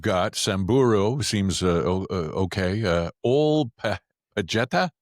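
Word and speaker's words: Pejeta: Old Pajeta. Pajeta. Yeah, Old Pajeta. You pronounce the J. It's not like Spanish.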